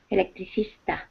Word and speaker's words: electricista: electrician in Spanish anyone electricista ah it's Easter oh okay doesn't work it's not like English at all I didn't realize there was an Easter at the end of it um all right and